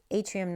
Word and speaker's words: yttrium: It's Atrium 90. It's YTTRIUM is actually how it's spelled, but you can look up Y90, that'll come up as well.